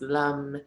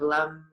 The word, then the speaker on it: lam: The sound of the root chakra is lam, but it's pronounced lum.